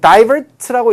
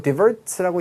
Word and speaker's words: divert: 자, 그 divert라고 읽기도 하고 divert라고 읽기도 하는데요.